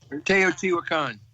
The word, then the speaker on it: Teotihuacan: I went to Teotihuacan. I'm sure I'm destroying the pronunciation on that. Teotihuacan. Teotihuacan.